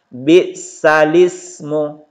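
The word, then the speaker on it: بِئْسَ الِاسْمُ: Jadi cara membacanya, naqal berarti memindahkan, teman-teman sekalian, yaitu memindahkan harokat hamzah, ini yang berharokat ini hamzah i, kepada huruf sebelumnya menjadi bisalismu. Jadi al-ismu menjadi alismu. Jadi itu teman-teman sekalian. Jadi ini dibaca bisalismu, bukan bisalismu.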